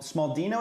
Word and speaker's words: Smaldino: Smald Smaldino is how you say your name.